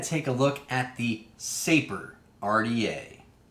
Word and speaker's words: Sapor: dads that show you how to say it saper and it means which which you know this